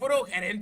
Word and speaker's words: Herencia: They're like, you know, it's Herencia. I'm like, nah, you can't, bro. It's the H, bro. I'm like, no, the H is silent.